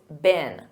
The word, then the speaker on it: been: And notice that pronunciation. In American English, it's been.